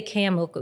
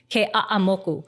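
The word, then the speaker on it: Keʻeaumoku: bad, but it's like every syllable has to be pronounced. Even like you can't say Ke'amoku, it's Ke'a'amoku.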